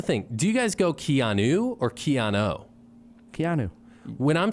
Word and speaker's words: Keanu: Keanu isn't that weird I say Keano a lot too unless I'm reading it Keanu Reeves I think I think that's the common mispronunciation of name wow I can't believe